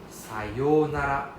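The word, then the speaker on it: さようなら: Sayonara. Sayonara. Right? So it's a long O sound, right? Sayo, right? There's a O-U. So O-U means the O is the long sound.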